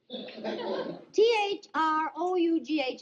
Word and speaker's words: through: through, T-H-R-O-U-G-H is pronounced through.